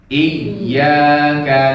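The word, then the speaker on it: إِيَّاكَ: Iyyaka na'budu.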